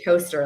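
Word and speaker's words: Towcester: city and she's like it's pronounced and she wrote out the word toaster like the thing that you you know with bread i was like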